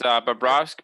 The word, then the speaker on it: Bobrovsky: How do you pronounce it? It's Bobrovsky.